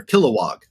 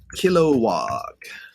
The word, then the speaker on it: Kilowog: see i was saying it right all earlier kilowog um kilowog let's see if i can get on the